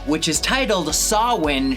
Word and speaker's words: Samhain: 3 which is titled sawin shun or if you're going to pronounce it wrong Sam Hayne Sonata